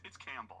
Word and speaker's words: Campbell: Campbell. I was just telling you how to spell it. Oh. It's Campbell, like the soup.